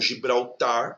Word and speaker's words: Gibraltar: Então Gibraltar é uma oxítona e também não é uréter, é ureter, que também é uma oxítona, tá?